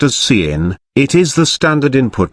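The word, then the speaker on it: cin: proceed with C plus plus C in being pronounced as C in it is the standard input not output so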